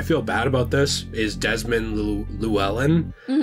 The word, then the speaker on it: Desmond Llewellyn: and I I feel bad about this is Desmond Llewellyn it's an interestingly spelled last name he's a